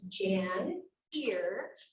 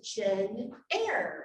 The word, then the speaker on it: Janyre: from each other so her mom says jan here like your ear and her dad says gin air like the air and so anything even